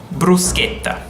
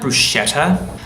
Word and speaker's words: bruschetta: gh is only followed by E or I and when you see it it's gay and ki respectively bruschetta not bruschetta I've also heard that